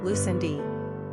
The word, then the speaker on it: Lucinda: Pronunciation, Lucindi.